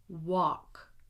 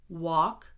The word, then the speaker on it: walk: Again, would, should, could, walk, talk, half, chalk, salmon. Okay, now were any of these words surprising for you? Because I have worked with so many English language learners around the world, and these are the words that they almost always mess up because of the silent L.